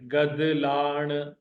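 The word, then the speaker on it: گدلاڻ: को गदला बोला जाएगा गाफ पर जबर दाल पर जेर लाम अलिफ जबर लाण ण पर जो है वो जेर है गद लाण गद लाण दिस विल बी पोल्यूशन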